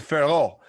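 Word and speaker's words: Fiorot: The T is silent, Farrow.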